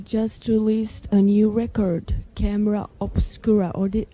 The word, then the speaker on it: Camera Obscura: I guess you're here because you just released a new record, Camera Obscura. Or did how did you pronounce it?